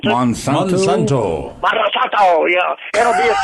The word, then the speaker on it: Monsanto: Is that how you pronounce it? Monsanto. Monsanto, yeah.